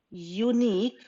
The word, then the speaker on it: unique: Each cloud has a unique, because when we pronounce unique, U is like ya, Y says ya, isn't it?